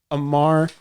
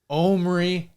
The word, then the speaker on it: Omri: Amar Caspi. Omri. Sorry, I always mispronounce. Omri. In Hebrew. In the Hebrew.